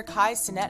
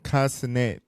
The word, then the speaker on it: Kai Cenat: Kai Cenat, Kai Cenat, I think is how you say it.